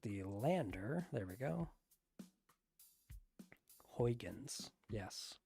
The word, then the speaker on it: Huygens: Huygens. Yes, correct pronunciation.